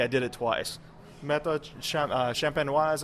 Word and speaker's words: champenoise: And it's the method méthode champignon. I'm going to mispronounce it already. I did it twice. Méthode champenoise à l'ancienne.